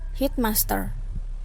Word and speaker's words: headmaster: Compound that receive primary stress on the second part, not the first. Jadi tapi ada beberapa kata yang penekanannya itu ada di kata kedua. Contohnya headmaster, weekend, mankind.